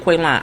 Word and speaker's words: Quaylen: She keep calling that man Quaylen. His name is Quaylen, because he pronounced it Quaylen.